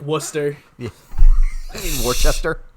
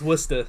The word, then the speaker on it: Worcester: Aspen and it's just like what exactly like Wooster Chester yeah Worchester it's Wooster its Worcestershire sauce yeah alright so Betty was in her kitchen around 6:30 p.m.